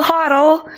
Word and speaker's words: HODL: for all my crypto owning friends I will hoddle if you're wondering what I mean you might hear people talking about hodling and that's spelled h o DL and the